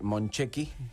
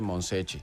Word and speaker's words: Moncecchi: Tiene razón Aldo, reconoce Guillermo que debería decirse Monchecchi, sí, como se pronuncia en italiano, pero él lo uruguayizó totalmente y le dice Monsecchi.